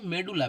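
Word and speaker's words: medulla: পিথ মানে হচ্ছে মেডুলা। পিথকে অনেকে মেডালা বলা হয়। ঠিক আছে? মেডুলা বা মেডালা যাই উচ্চারণ করো অসুবিধা নেই।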